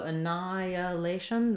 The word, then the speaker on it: annihilation: elation um yeah so annihilation there's no h pronunciation there so you can see that they have the ni stressed annihilation and if you can't